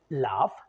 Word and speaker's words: laugh: If you take the word laugh, that laugh sound, the final sound is, even though it's gh, it's ending with f sound, right?